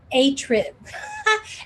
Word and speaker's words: attrib: about the title um i was pronouncing it a trib as if it rhymed with a fib heart palpitations um and